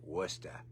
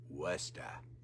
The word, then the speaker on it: Worcester: um spelled kind of like word worker. Um uh but if you're from the Boston area, you know, uh it's Worcester and uh and if you're really from Boston, it's Worester Worester Worcester.